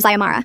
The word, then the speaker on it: Ziamara: We were discussing the constitutional convention when she called on me again, mispronouncing my name as Zara this time, not even close to any version of Ziamara.